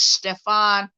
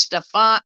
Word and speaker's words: Stepan: y'all to see something his name is stefan uh stepan i think that's how you say it um bandera that's his